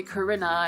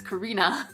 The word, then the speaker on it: Carina: my name right because all my teachers call me corona and it just makes me so sad because it's carina but just but just